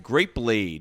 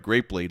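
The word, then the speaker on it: Grapelade: He developed and advertised Grape Blade, which rhymes with marmalade, from Concord grapes.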